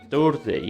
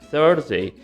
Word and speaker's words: Thursday: This sounds quite different. It's not Thursday, it's Thursday.